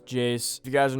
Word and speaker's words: Iayze: a jace type beat i'm pretty sure that's how his name is pronounced i used to think his name was like a's or something like that but yeah pretty sure it's jace if you guys are